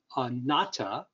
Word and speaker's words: anatta: uh today's talk is going to be on nata uh it was spelt wrong on the uh